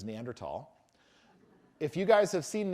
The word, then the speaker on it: Neanderthal: Many anthropologists like to say Neanderl because we like to break stereotypes. Um, and the place is said Neanderl. And in fact, when it came into English, it's spelled Neanderl Ensus. They give it a species name, Homony Neanderl Ennis, but with a th in Latin. You don't say the H.